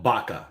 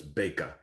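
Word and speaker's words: Bäke: I want to call it Baka, but umlaut on the A is a long A sound, so it's Beka.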